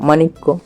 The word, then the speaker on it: মাণিক্য: আকার ম আর মূর্ধন হসনি মানি কফলা ক মানিক্য তাহলে ঐক্য বাক্য মানিক বুঝা গেল এরপর দেখো